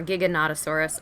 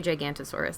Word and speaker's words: Giganotosaurus: I know the Gigantosaurus one is, or Giganotosaurus. I always say Gigantosaurus. I'm always saying it wrong.